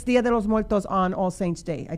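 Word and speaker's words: Día de los Muertos: I don't know how to say it correctly. Dia de los Muertos. Yes, there you go.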